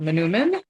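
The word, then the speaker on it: manoomin: So wild rice, also called Manumin, and I learned how to pronounce that from watching some videos on Minnesota Public Radio.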